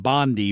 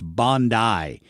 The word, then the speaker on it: Bondi: I was pronouncing it like Pam Bondi, but apparently in Australia it's Bondi.